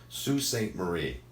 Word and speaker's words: Sault Ste. Marie: I am going to pronounce this correctly, but it's going to look wrong. So it's Sault Ste. Marie.